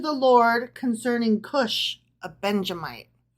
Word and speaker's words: Benjamite: which he sang to the Lord concerning Kush a Benjamite. Okay. Yeah, Benjamite. I was trying to add in an additional syllable.